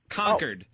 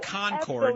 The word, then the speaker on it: Concord: people You have to learn to pronounce it. It's Concord. Concord. Yeah. Not Concord. Those New England jerky Kennedys. I'm saying it's Concord like the grapes.